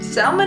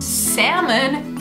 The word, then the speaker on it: salmon: To be perfectly honest, this is another word I was guilty of mispronouncing when I first moved to the US. I'd say, I love salmon. Salmon is great. Yeah, you wanna? Salmon is great.